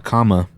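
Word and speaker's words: kama: I don't see an option for a comma on any of these, which doesn't make any sense because ARC troopers in particular are supposed to have commas. And comma is spelled K-A-M-A, not comma like punctuational commas.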